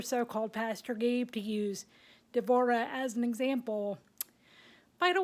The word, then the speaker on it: Deborah: For example, I had mentioned Deborah, because that's actually the correct way to pronounce her name, but it got anglicized to Deborah.